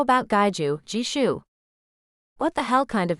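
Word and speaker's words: Gijoe: spares how about gaiju jishu what the hell kind of name is jishu she grinned wickedly it's spelled g-i-j-o-e it took Noah a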